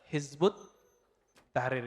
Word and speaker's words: Hizbut Tahrir: Dalam bahasa Arab kalau ditulis versi ee transasinya Hizb At-Tahrir ya. Tapi kalau dibaca Hizbut Tahrir cara bacanya begitu nulisnya kalau didesis disertasi begini. Hizb Attahrir.